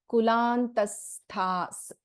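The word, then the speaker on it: कुलान्तस्था: So again in Kulantastha and Samayantastha, if you remember the Visarga rule, if after a Visarga, if we have Sa as a letter, then we do not pronounce the Visarga here. It is Kulantastha sound is heard, which is correct.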